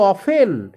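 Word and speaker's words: often: তুমি একসাথে থাকি ইউ অফেন এখানে উচ্চারণটা কিন্তু অবটেন করে অনেকে ভুল করে কিন্তু টি এর উচ্চারণটা হবে না ইউ অফেন মানে তুমি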